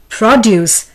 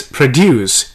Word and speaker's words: produce: word is produce well the noun would be produce stress being on pro the verb form is produce here the stress is on d u c e the word is